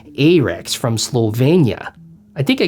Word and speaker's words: Arex: being willfully ignorant because i'm pretty sure it's pronounced rx but i grew up in minnesota and wisconsin so it's a rex from slovenia i think